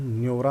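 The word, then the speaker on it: Neora: हम पहुंच चुके हैं न्योरा वैली नेशनल पार्क। ठीक है दोस्तों, इसको न्योरा भी बोलते हैं, नीरा भी बोलते हैं, ध्यान रखिएगा, दोनों एक ही सेम मीनिंग्स हैं, बस उच्चारण थोड़ा अलग है।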